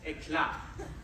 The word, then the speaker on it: Eclat: Did I pronounce that right? Eclat? Eclat. It's French. Eclat, yes.